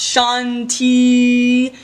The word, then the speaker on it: shanti: conflict that one is spelt like this and pronounce shanti shanti shanti if you did my meditation for